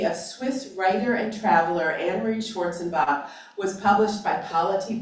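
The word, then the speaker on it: Annemarie: I just say a few words about Anne-Marie, and it's pronounced Anne-Marie in German, so I've just gotten into the habit of that. But Anne-Marie is the English version.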